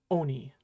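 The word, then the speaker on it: 鬼: finally we have key when in isolation key will be pronounced Oni that should give you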